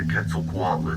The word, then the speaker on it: Quetzalcoatl: The Quetzalcoatlus stands at 6 Quetzalcoatl.